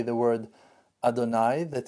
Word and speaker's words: Adonai: as we call him Adonai that's the way that we pronounce this name even though that in